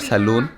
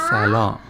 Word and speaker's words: salon: it is not saloon. It is salon. N is silent.